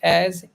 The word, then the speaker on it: et: क्या पढ़ते हैं, वो एत पढ़ते हैं, एत. That is wrong. है ना? सो the correct pronunciation is ए. ई टी इज pronounced as A.